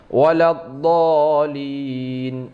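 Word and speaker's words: وَلَا الضَّالِّينَ: Maka cara membaca yang benarnya, cara baca yang benar ini, ya, kita baca ghairil maghdubi alaihim waladdallin. Sambil ditekan.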